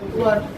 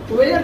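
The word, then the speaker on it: were: They, वी, यू, इन तीनों के साथ यूज होता है वर। वेयर नहीं पढ़ेंगे, इसको वर पढ़ते हैं।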